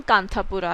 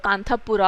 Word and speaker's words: Kanthapura: Indian village जिसका नाम कांतापुरा है। तो हिंदी में तो अगर आप देखेंगे तो प्रोनाउंसिएशन कांतापुर ही रहेगा, है ना। वो तो जब हम एंग्लिसाइज करके बोलते हैं तो कांतापुरा हो जाता है, राइट।